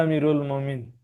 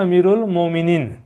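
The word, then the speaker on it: أمير المؤمنين: से रिलेटेड है और इसका शुद्ध शुद्ध उच्चारण होता है अमीरुल मोमिनीन बहुवचन हो गया ना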